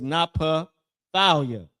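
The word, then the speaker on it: Naphtali: How you pronounce that in Hebrew is Napa Thalia.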